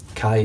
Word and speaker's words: Kai: a new YouTuber, WetTuber, Kai Triska. Pronounced spelled fuck's sake man, sorry. Pronounced Kai, like the blades, K-A-I, and Triska, which in phonetic alphabet is Tango, Romeo, India, Sierra, Kilo, Alpha.